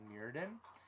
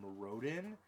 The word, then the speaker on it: Mirrodin: is the pronunciation of Mirrodin. I've heard it pronounced as Morodin, and I'm at awe when I hear that. I'm just like, what? There are 2 R's there. There are 2 R's, yes.